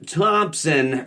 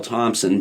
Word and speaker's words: Thompson: T-H-O-M-P-S-O-N. Don't forget the P. Sometimes people think it's son of Tom, but yes, there are a couple ways. There's like three. Right. It's the British way. It's pronounced thump.